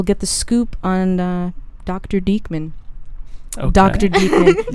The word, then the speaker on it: Diekman: My uncle pronounces it Diekman. Yeah, I never knew that until like I like this year. Diekman better. Yeah. You're right. Yeah. Well, and my grandmother pronounced it Dickman, so the choice was thanks, clear Grandma. from my perspective.